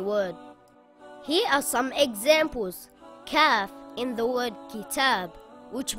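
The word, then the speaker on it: كاف: This letter is called Kaf. Kaf is a light letter and should not be pronounced heavy. Kaf makes a similar sound in English to the letter K in the word kitten or the word kangaroo.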